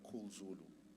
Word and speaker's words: Khul Zulu: In my instance, I've got a term I call Cool Zulu. Okay, I spell it Khul Zulu, one word.